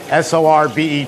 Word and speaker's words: sorbet: going to have uh fresh chocolate sorbet tonight s o r bet T pronounced sorbet or the Italians call it sorbetto